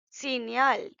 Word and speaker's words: signal: signal it's all a signal will be pronounced as a senal a senal okay now in plural